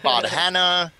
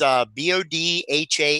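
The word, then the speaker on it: Bodhana: you say it because we've heard bott hannah like two different breakdowns but it's Bodh a and a group and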